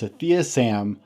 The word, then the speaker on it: Sathiya: My name is Brent, and today my special guest is Sathiya Sam of Unleash the Man Within podcast.